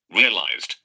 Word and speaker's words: realized: realized, realized, The pronunciation, the ED ending of this verse is D because the final sound is B G, L, M, N, R, offered, offered, offered.